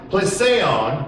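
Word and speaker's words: πλησίον: Neighbor means in the Greek, the word is pronounced plesion, and it means a neighbor, a friend, any other person, and where two are concerned, the other, thy fellow man.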